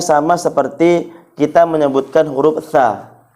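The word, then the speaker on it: ث: Jadi, cara bacanya itu adalah huruf tha. Ujung lidahnya dikeluarkan sedikit.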